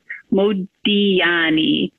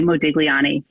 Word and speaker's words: Modigliani: In Italian, the artist's last name is pronounced Modigliani. Try stressing your mouth and seeing if you can say that. In English, we simplify it a bit and we say Modigliani.